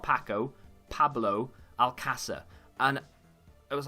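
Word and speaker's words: Alcácer: I know a lot of people say like Alcacer, and I think that's the way that the British people say it. If you can't speak Spanish, I can't speak Spanish, but you might as well try and say it the way that the locals say it, right?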